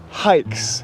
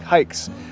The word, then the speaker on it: HAIX: of the company is hikes is how it's pronounced like hiking like hikes but it is spelled h-a-i-x h-a-i-x go to their